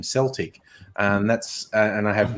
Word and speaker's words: Celtic: who knows the O the only Celtic is the football team which is super weird but that is how they pronounce their football team's name Celtic and that's and I